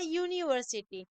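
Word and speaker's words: university: है जैसे कि अ यूनिवर्सिटी तो यूनिवर्सिटी का स्पेलिंग स्टार्ट होता है यू से बट हम उसको प्रोनाउंस करते हैं यू तो वहां पर अ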